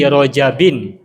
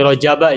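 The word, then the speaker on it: رجبٍ: fi Rajabin wa Sy'bana Orang-orang biasanya bacanya Allahumma bariklana fi Rajaba ya. Nah, kalau saya bacanya Allahumma bariklana fi Rajabin wa Sya'bana. Rajabin bertanwin. Karena menurut yang saya pahami, Rajab itu bertanwin sehingga ketika ada fi maka dibaca kasrah fi rajabin.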